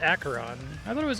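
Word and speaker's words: Acheron: In case you're wondering, it's pronounced Aaron. I thought it was Asheron.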